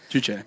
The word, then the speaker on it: Juche: And so he created a new religion called Juche. Juche. And it is spelled J-U-C-H-E if you want to study up more on this.